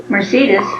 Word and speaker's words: Mercedes: Mercedes. Mercedes. I think now they'd say Mercedes. Mercedes, yes. She was named Mercedes.